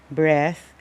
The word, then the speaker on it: breath: aside from the spelling breath as a noun is pronounced as breath and breathe as a